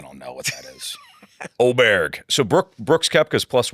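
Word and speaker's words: Åberg: Uh it's getting pronounced a variety of ways, but I think he said Oberg is the way to do it. Oberg. Well, it's it's the letter A with a little circle over.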